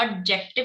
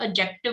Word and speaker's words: adjective: अब जो एडजेक्टिव होता है ना, इसमें डी साइलेंट होता है। First thing to observe this, D silent होता है, उसको एडजेक्टिव नहीं बोलेंगे, एडजेक्टिव बोलेंगे, ठीक है। डी की साउंड नहीं रखनी, डी is silent there, एडजेक्टिव।